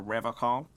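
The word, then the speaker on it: Revachol: But someone has to stay strong for Revocol. His gaze shifts to the pile of soggy logs at his feet. He pronounces Revocol with a hard K, unlike other people.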